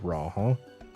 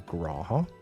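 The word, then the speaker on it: G'raha: Also, we figured out that I was ranting about the fact that only people who doesn't know Raha keeps calling him Graha, and everyone who knows him, the G is silent.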